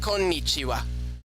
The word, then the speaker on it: こんにちは: This is the ha kana, but when we say hello, konnichiwa, it's pronounced wa.